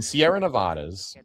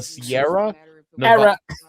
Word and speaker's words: Sierra Nevada: The Sierra Neadas. The Sierra. No, I And I said it right. The Sierra Nevada.